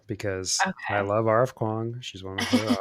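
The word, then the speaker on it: Kuang: House by Leigh Bardugo, and Babel, am I pronouncing that right? Yeah. By R.F. Kwong? Yep. Okay. Okay. Kwong. Yeah. Kwong.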